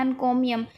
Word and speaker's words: encomium: कैसे कर सकते हैं एन कोमियम एन कोमियम को अगर हम प्रोनाउंस करते हैं तो इस तरीके की आवाज निकलती है इनको भी हम एन